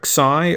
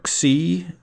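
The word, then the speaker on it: ξ: The letter Xi or Xi is this rather strange character here with a lot of squiggles in it.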